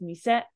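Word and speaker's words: 店: So 10 is how this is pronounced when it's married, like kisaten, which is a cafe. This guy right here on its own though is mise.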